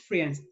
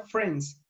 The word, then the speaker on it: friends: vientos friends no es friends se lee se escribe friends pero se pronuncia friends como si no estuvieran ahí vamos a bien si